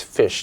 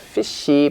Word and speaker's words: fish: the end of fish it's fish not fishy but fish and you can do it if you properly curl your tongue up fish you can end the